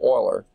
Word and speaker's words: Euler: Many considered Leonard Euler, it looks like it would be Euler, but they pronounce it Euler, a Swiss mathematician, to be one of the most prolific and productive mathematicians in history.